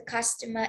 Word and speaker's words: customer: Okay, so the customer is a noun. Okay, and the stress is the first syllable. Customer.